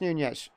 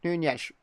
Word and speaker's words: Nunes: Rico, Nunes, turns. Oh, Nunes. Actually, Mateusz Nunes, I'd say. Commentators sometimes say Nunes. I'd say Nunes because the Portuguese like to just not pronounce the end of their names.